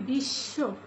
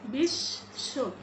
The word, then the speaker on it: বিশ্ব: double উচ্চারণ করে দেয় যেমন আমরা যদি বলি বিশ্ব ব্রসটা কালো বস্ নিচে বকলা যুক্ত রয়েছে আমরা এখানে কি বচ্চারণ করলাম আমরা বচ্চারণ করিনি বরং বিশ্ব এখানে তালব্য টাকে দুবার উচ্চারণ করলাম এরকম বয়ের কিছু